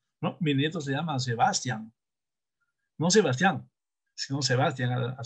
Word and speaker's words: Sebastián: Mi nieto se llama Sebastián.